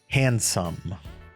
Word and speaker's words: Handsum: And together they are Handsum. And that is spelled S U M like the sum of its parts.